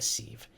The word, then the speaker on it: sieve: But it leaks like a sieve. Mm-hmm. That's how you pronounce it, sieve?